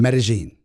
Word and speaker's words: Medellín: Medellín. Oh, Medellín. Okay. Medellín. Like Ibiza. Yes. Not Ibiza. The Castilian pronunciation. Medellín.